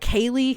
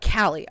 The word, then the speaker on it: Callie: Because sometimes it's like Kaylee, because the pronunciation of the Lee at the end is different. But Callie.